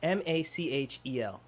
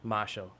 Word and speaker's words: Machel: Machel Montano Melle m m a c h e l so how do you say it Marshall that's what I said Marshall no you went like Machel I didn't say did